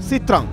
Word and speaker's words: Sitrang: নামের উচ্চারণ সিত্রাং।